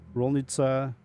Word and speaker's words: Rolnica: these are all the ICA is actually supposed. I think it's apparently supposed to be pronounced Itza, so Leshnica, Rolnica. Denica.